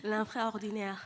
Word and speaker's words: L'infraordinaire: So say the proper pronunciation for me. L'infraordinaire.